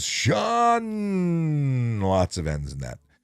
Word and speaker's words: Sean: How many times is your name mispronounced as Seen, not as Sean?